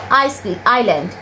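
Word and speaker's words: island: আইল্যান্ড, এখানে দেখো অ্যাশ দেয়া কিন্তু এটা উচ্চারণ হবে আইল্যান্ড।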